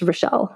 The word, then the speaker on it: Rachel: So she's French, so which is why I'm pronouncing her name Relle. It's spelled R A C H E L.